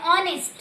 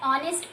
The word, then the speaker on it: honest: And the next is an honest. So when we say an honest, he is an honest person. So H is silent again, so honest, O, that is the vowel sound is coming, right?